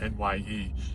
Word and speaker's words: Nye: It's spelled NYE, Nye County, Nevada, Pahrump.